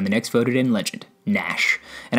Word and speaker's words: Gnash: next voted in legend nash and i know it's pronounced nash but for kicks i